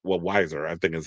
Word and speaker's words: Weiser: Colorado Attorney General Phil Weiser also said Weiser, I think is how you say his name,